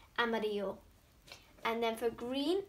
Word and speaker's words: amarillo: The L's actually mean Y in our language, so it's amarillo.